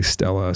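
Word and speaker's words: stele: in a monument inscription s-t-e-l-e pronounced different ways some people say Stella some people say Steely anyway but this inscribed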